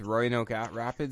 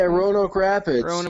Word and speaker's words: Roanoke Rapids: youtube or something that was in uh rapids royal oak rapids is am i pronouncing it correctly yeah roanoke rapids rapids that was a great match but like